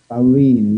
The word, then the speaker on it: Paolini: Paolini? Paolini, yes. The A-O is like O-U in Italian, or like O-U would be in English.